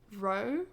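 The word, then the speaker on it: Roah: i listened to captive prince cinematic score by row which is spelt r r o a h on spotify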